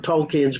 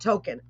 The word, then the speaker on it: Tolkien: with the whole world, explain to us about Tolkien. How do you say Tolkien? Tolkien, is it just Tolkien, right? How do you pronounce it?